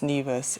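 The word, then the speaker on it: Nevis: Okay, the correct pronunciation of that territory is NeAs. It is actually St. Kits and NeAs.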